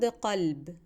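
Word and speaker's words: قلب: The word qalb. Qalb with a qa means heart, while the word kelb with a ka means dog.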